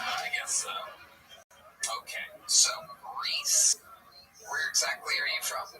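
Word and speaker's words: Rhys: Reese?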